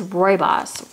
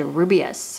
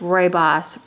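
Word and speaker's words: Rooibos: Queen of Hearts so I think I pronounce this wrong the first time it's Roy Boss Roy boss red tea I think I said Rubeus or something strange when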